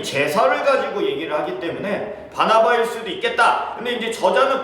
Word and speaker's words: 바나바: 바나나가 아닙니다. 바나나 말고 바나바. 제가 잘못 발음해가지고 예전에 큰 곤욕을 바나나 이래가지고 난리가 난 적이 있는데 바나바입니다.